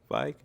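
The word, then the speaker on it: Fieg: Feig? Yeah. Ronnie Feig. All right, cool. People say Feig. Yeah, I was about to say, I always heard Feig, but I'm like, I don't really know. I've heard Feig, and I say Feig.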